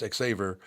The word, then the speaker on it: Xaver: xaver cor yep it's xaver like Lifesaver marvelous but the other